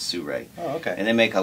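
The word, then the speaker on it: Sirui: last name is called Sur it's spelled s i r UI but some reason they say it's Sur okay and they make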